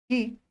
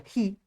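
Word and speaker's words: χ: es la letra griega chi, conocida por muchos como chi, pero no se pronuncia chi, se pronuncia ji, con J.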